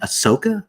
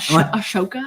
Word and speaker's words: Ahsoka: Ahsoka? That's hot. Ashoka?